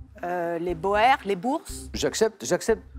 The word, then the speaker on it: Boers: Les Boers, les Bourses. J'accepte. Ça se dit Bourg, mais ça s'écrit Boer.